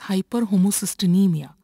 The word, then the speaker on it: hyperhomocysteinemia: When there is high levels of homocysteine in the blood, this condition is called as hyperhomocysteinemia. Pronounce it as hyperhomocysteinemia.